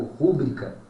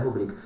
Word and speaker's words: rubrica: ouve aí direto Como rúbrica tá Como se ela fosse proparoxítona ela não é proparoxítona ela é paroxítona a pronúncia correta dela é rubrica pô mas como é